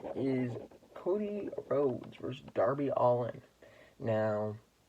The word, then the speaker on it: Allin: And a match that I'm pretty interested in is Cody Rhodes versus Darby Allin. Now, I think it's actually pronounced Allen, but I like calling him Allin.